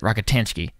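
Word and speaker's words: Rockatansky: rocket rocketansky yeah and I think he pronounced it rocketanski like very very quick and strange but uh are you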